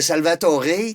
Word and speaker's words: Salvatoré: prénom de mon grand-père il y a pas d'accent aigu non mais ça se prononce Salvator B oui fait c'est